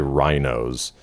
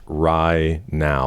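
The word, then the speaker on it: RaiNao: I don't want to say Rhinos. Uh, pronounce pronounced right now like pie now. Right now.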